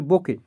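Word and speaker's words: bouquet: আর সবথেকে বেশি যেটা বাঞ্চের থেকে সবথেকে বোকে উচ্চারণ করা হয়। ফুলের যে তোড়া তোমরা দেখেছো ফুলের তোড়া গুলো যেরকম থাকে এরকম ফুল থাকে যে ফুলের তোড়া গুলো সেটাকে বলা হচ্ছে বোকে।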